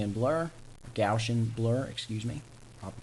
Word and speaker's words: Gaussian: frame one and we can see we've got gaui and blur gaussian blur excuse me proper pronunciation and it blurs it all the way